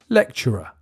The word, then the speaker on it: lecturer: difficult it's interesting because the ct in the middle becomes a ch sound when you speak quickly lecturer number nine is a